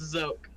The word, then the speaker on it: Zoke: It's Zoke. Zoke, okay. Yeah, what's up? Kind of like Snoke, right?